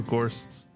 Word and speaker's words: Gorst: But actually, I think that's why Fedor Gorst's nickname being the Ghost is actually probably the best double entendre, because it rhymes with his name Gorst, but he's also he's so good that he is the Ghost.